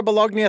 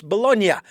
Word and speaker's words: Bolognia: Bolognia, thank you so much for joining us here on the program. And I know I just pronounced the G, and it's Bolognia.